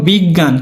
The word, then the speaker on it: বিজ্ঞান: তারপরে দেখো বিজ্ঞান দেখো বিজ্ঞান কিন্তু আমরা বলি কি বিজ্ঞান বিজ্ঞান নরম নরম ভাবে উচ্চারণ করো তো বিজ্ঞান বিগ জ্ঞান তো লিখান তো লিখে ফেলো